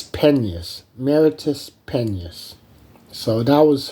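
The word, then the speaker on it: Penas: um her maiden name it was spelled p-e-n-a-s and I didn't know how to pronounce it Penance or or um or peanuts like that but it's pennies Meritus penis so that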